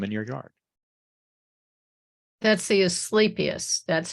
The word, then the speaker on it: Asclepias: That's the Asclepias.